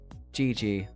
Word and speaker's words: Gigi: Gigi. It's a French name. Okay. Okay. Also known as the English dub of a magical girl anime from the 80s. Gigi. The phrase, it's pronounced like the phrase, GG.